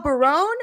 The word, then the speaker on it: Barone: but is it Michelle Barone or is it Michelle? Is that how you say it? Barone? Yes, Barone. Okay, You're right. Okay, got it right. Good. Just like Raymond.